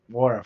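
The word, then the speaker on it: Nwora: I always miss Wara. Wara. Thanks so much. The N is silent.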